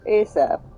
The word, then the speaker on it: ASAP: okay there a differ ASAP pronounced ASAP is an acronym of as soon as possible Bay stop cease Bridge